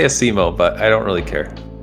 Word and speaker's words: Asimo: How do you pronounce it? All right, cool. So before we begin... Oh, sorry, go on. I say Asimo, but I don't really care.